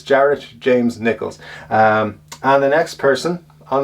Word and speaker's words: Jared James Nichols: So that's it, James Jared Nichols. I always say it wrong. I always say James Jared. It's Jared James Nichols.